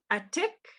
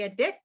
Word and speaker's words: atik: The caribou, Atik. Some people would say a dick.